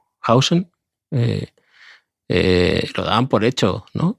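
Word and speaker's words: Huijsen: En Madrid, ¿cómo se pronunciaba? ¿Heisen? ¿O Hausen? Hausen.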